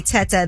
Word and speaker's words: Tetteh: Well, I trust anybody whose last name rhymes with Meta. Okay. That is Dr. Hassan A. Teta, The Art of Human Care with AI, with Artificial Intelligence.